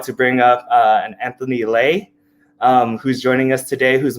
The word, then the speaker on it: Le: My other name is Anthony Lay, spells L-E, but pronounced Lay, as in legendary, as in legitimate, your best friend, and let's go.